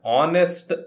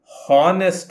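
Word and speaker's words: honest: ಒಬ್ಬ ಪ್ರಾಮಾಣಿಕ ವ್ಯಕ್ತಿ ಆನ್ ಆನೆಸ್ಟ್ ಮ್ಯಾನ್ ಇಲ್ಲಿ ಕೂಡ ಹಾಗೆ ಈ ಎಚ್ ಅಕ್ಷರವನ್ನು ಉಚ್ಚಾರ ಮಾಡುವುದಿಲ್ಲ ಇದನ್ನು ಆನೆಸ್ಟ್ ಅಂತ ಹೇಳ್ತೇವೆ ಆನೆಸ್ಟ್ ಹಾನೆಸ್ಟ್ ಅಲ್ಲ ಆನೆಸ್ಟ್ ಈ ಪದ ಅಕ್ಷರದಿಂದ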